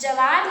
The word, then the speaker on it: ज्वार: जवार लिखा है तो शुद्ध इसका क्या आएगा, ज्वार।